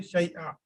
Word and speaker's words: شيئا: Because you're stopping, so you say شيئا. You know that. When there is tanween, two fatha ending, and you're stopping there, so you will pronounce it as single fatha.